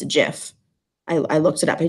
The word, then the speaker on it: GIF: a gift it's a jiff I looked it up he did a lot of research on this topic and the inventor of gifs says it's a jiff so don't come at